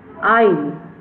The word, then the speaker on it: isle: Actually, it's called isle. Isle. S, the letter S is silent here, like island.